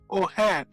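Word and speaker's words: O'Hearn: So without no further ado, ladies and gentlemen, let us welcome O'Hare. Hello. I hope I've pronounced your last name correctly.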